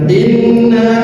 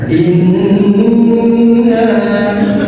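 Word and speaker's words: إنّا: Cara membacanya ditahan minimal dua ketukan in. Jadi jangan inna, jangan seperti itu bacanya tetapi ditahan inna.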